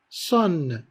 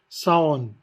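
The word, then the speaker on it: Saône: Par exemple aussi, Son, c'est un fleuve français. On a le A et le O, mais qui sont prononcés en une seule syllabe.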